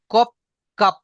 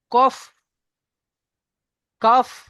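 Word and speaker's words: قاف: বলি অনেক সুন্দর মাশাল্লাহ ভাই দেখেন অনেকে আছে কফ কাপ এই কফ আর কাফ কে আপনারা কফ কাফ বলছেন প উচ্চারণ করছে লাস্টে প উচ্চারণ করছে ক কাপ প নয় ফ উচ্চারণ ফ উচ্চারণ করবেন কফ কাফ এই যে আমাদের দুই ঠোক দেখেন দুই ঠোকের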